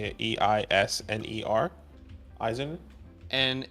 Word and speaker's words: Eisner: E-I-S-N-E-R.